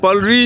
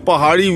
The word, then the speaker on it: pahari: is this village and palrie is a mispronunciation of pahari which are these two